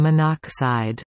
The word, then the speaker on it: monoxide: Sometimes prefixes are shortened when the ending vowel of the prefix conflicts with a starting vowel in the compound. This makes the name easier to pronounce. For example, CO is carbon monoxide, as opposed to monoxide.